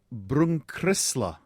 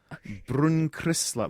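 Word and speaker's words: Brunkrissla: We have got a Brunkrisla. Brunkrisla.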